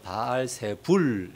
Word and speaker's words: 바알세불: 이제 헬라 성경으로 넘어오면서 발 부은 헬라어로는 바알세불 이제 이렇게 발음이 됩니다 발새 불로 이렇게 이렇게